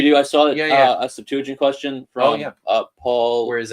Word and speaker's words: Septuagint: told at Manchester that the way to pronounce it properly was Septuagint. Septuagint, so, that is one pronunciation among scholars. Yeah. So they warned me that if I didn't want to out myself too badly as an American or a Canadian, that I should say Septuagint.